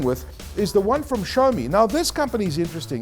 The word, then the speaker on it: Xiaomi: They've launched this Redmi Note 2 device, and this is Xiaomi. That's how you pronounce it, Xiaomi.